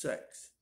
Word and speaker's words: sex: six in dutch is pronounced sex exactly the same way the english word sex is pronounced i looked it up